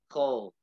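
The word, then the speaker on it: כל: So it looks like the vowel we pronounce ah, but it's not pronounced ah, it's pronounced O. Kol.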